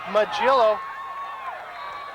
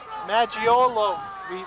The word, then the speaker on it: Maggiolo: Forte passes it to Magillo. Magillo, good gain of about 6. Maggiolo, we now have the correct pronunciation for his name.